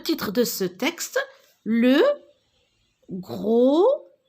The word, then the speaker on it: gros: Alors, le titre de ce texte, le gros navet. Alors, regardez, la lettre S et la lettre T, je ne la prononce pas. Ce sont des lettres muettes, d'accord?